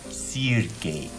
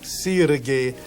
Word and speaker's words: Sergei: How do you pronounce it? Sergei. Sergei, and I am Stefan.